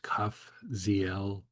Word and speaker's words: Kafziel: We're going to use Kafziel as a mantra, breaking each syllable up as part of the mantra. So we're going to say Kaf, Z, L.